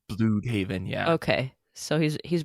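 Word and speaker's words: Blüdhaven: nightwing is back and is it bloodhaven or bloodhaven i rarely say it out loud i said bluthhaven but that's because i read phonetically because spanish is my first language yeah so okay so well okay is this blue it has the umlauts on it right so i think it's blue haven yeah okay so he's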